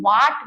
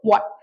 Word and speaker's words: what: हूँ, व्हाट डू वी, इसको वाट मत बोलिएगा, हर वीडियो में मैं इन प्रोनाउंसिएशंस को ठीक करती हूँ, वाट नहीं लगानी है, ये व्हाट है, ठीक है, व्हाट।